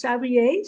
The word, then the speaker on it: Sabriye: Hi everyone, and welcome to the Divine Diva, where my guest for today is Sabriye.